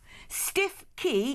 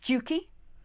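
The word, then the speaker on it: Stiffkey: Stiff Key is pronounced Stewkey.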